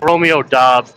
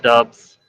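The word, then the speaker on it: Romeo Doubs: It's pron it's Romeo doss not dubs.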